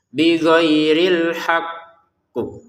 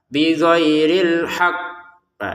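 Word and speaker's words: بغير الحق: Berarti dia tidak hanya dipantulkan, tapi juga harus ditekan. Sekali lagi dia tidak hanya dipantulkan, tapi harus ditekan. Bagaimana caranya? Bighhairil haqqu.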